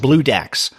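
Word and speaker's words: Bloodax: Now, if you're wondering what the name refers to, and by the way, it's spelled BLOO-Dax, DAX, Blue Dax.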